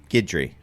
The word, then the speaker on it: Guidry: his actual name is is uh gidry correct Chris you got it again every time